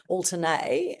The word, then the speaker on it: Altuney: So I've changed it to a Y, Altuney, and that's how I say it, Altuney.